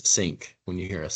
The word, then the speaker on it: SynQ: name for our software know there's often some uh pronunciation issues with that synq is what a lot of people call it but I will just uh go ahead and tell you it is sync when you hear us